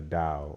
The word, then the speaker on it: Tao: He got this from the Tao or the Tao. It's Tao with a D, but it's spelled with a T.